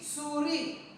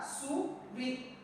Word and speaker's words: souris: La deuxième syllabe qui est ri, souris. Le S qui est à la fin ne se prononce pas. Nous prononçons seulement la syllabe qui est là. Donc on a souris.